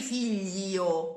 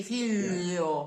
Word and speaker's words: figlio: In words like figlio, the I is spelled only to signify that it's not figlo. We'll not actually hear it. We don't say figlio. We say figlio.